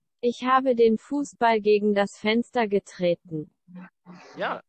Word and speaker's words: Fußball: Fußball. Yes, let's. Fußball. That's amazing. And if you want to say, I kicked the football, and let's just say at the window, you can say. Ich habe den Fußball gegen das Fenster getreten.